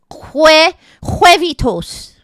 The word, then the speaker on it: huevitos: Huevitos.